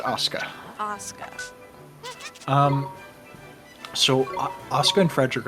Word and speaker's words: Asuka: and it's pronounced Asuka.